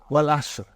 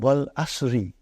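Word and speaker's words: والعصرِ: Wal Asr. Have you ever noted down what is written there? It's called Wal Asri. It's majroor.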